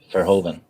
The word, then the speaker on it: Verhoeven: Verhoeven. Verhoeven, thank you. It's Dutch. Yes. You pronounce the V as an F, I believe. Verhoeven.